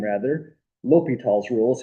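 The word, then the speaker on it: L'Hôpital: Li Tall's rule is how that's pronounced.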